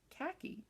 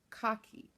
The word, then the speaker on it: khaki: hears an American say khaki, because in Australia it's pronounced, you're gonna giggle, Carolyn, cocky. So she says she giggles every time she hears us say khaki.